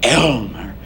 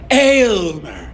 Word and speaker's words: Aylmer: Not Elmer. Aylmer. AYLMER, an Old English word meaning the all-inspiring famous one, and that he is indeed.